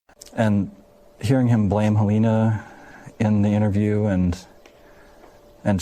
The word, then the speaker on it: Halyna: heard elaine is sorry it's actually helena's husband i think the pronunciation of her husband really settles it it's helena and she he actually